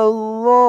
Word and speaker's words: الظالمين: قوم الظالمين। ওর উচ্চারণটা কিন্তু অনেক নরম পাতলা করতে হবে।